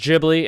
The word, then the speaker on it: Ghibli: to the to the museum so it is pronounced ghibli and i learned that from an actual spirit